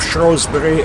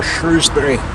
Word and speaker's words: Shrewsbury: And welcome to this video of Shrewsbury or Shrewsbury, depending how you pronounce it.